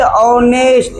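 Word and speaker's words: honest: क्योंकि यहां पर एच क्या होता है? साइलेंट होता है। क्या होता है? साइलेंट होता है। और जैसे हम लोग बोलिए ऑनेस्ट। ऐसा लगता है ना ओ से स्टार्ट किए।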